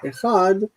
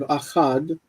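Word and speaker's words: אחד: It's also what led to the pronunciation of echad as echad instead of achad, because you've got this kamatz here. So you don't want a kamatz in front of it, so it's echad.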